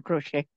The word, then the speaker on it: crochet: know that what whe the te is silent in crochet okay yeah it's called crocheting or crochet M uh so you